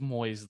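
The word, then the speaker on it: Moise: June in 1988 Judy Moyes had um an outreach program names m-o-i-s-e I'm always like Boise Idaho like it's just Moyes though she was in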